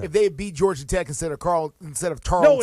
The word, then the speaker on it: Tarleton: Tarleton. I guess that's how you pronounce it. I'm sure it's a wonderful place. It's Tarleton. Tarleton.